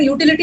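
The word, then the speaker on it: utility: आई can make an यूटिलिटी item from this waste paper. यूटिलिटी मतलब काम का चीज। यू है ना यहाँ, य का प्रोनाउंसिएशन यू है, य बाय यू, यू वॉवल नहीं है, कॉन्सोनेंट। अ यूटिलिटी।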